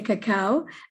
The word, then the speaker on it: cacao: So since then, English people say cocoa, Spanish and the rest of the world say cacao.